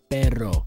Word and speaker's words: Perro: I had to say it right. Perro. Sometimes I put a D in there and say Pedro on accident.